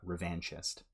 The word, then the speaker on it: revanchist: He said, second syllable sounds like the word van.